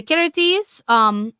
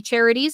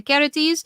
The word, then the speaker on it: Charites: The Charites, or the Charities, as some people pronounce it, but the Charites, they were said to have a hand in all joy and merriment.